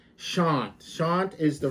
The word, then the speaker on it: Shant: Shant is the right name to say, the right way to say the name, Shant.